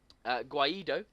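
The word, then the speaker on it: Guaidó: It signals a big shift, and the current American recognised president, Guaido, as we're calling him, I think that's right. It has got a little accent on the O, just for the viewers.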